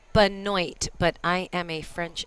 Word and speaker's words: Benoit: if i were to look at that name in french it would be bono but it's casey benoit so i'm saying it uh how phonetically is spelled but um americanize it to benoit so we're gonna we're